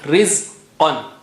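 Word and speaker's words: رِزْقًا: Rizqan. Qa is high sounding. Rizqan.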